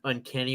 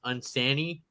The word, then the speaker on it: uncanny: year old kid who thought the word uncanny was supposed to be pronounced unsanny oh yes I did